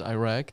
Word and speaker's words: Iraq: So one thing, Brian, a lot of people have the misconception that George Bush started pronouncing it as Iraq. It's actually pronounced Iraq.